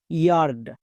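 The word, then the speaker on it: yard: সো ওয়াই এ এর জন্য দুটো সাউন্ড হয়, একটা ইয়া আর একটা ইয়ে।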